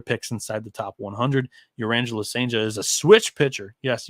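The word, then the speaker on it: Cijntje: I believe that the J's are often pronounced with H, so I think it's Urangelo Senja.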